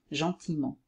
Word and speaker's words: gentiment: devient brièvement gentil devient gentiment encore alors il ya elle qu'on ne prononce pas l'adjectif masculin singulier dans